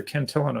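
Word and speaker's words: Cantillon: ken kentian effect or kentillon effect i never know which way to pronounce his name i'm gonna go with the french pronunciation um cantinon effect uh that is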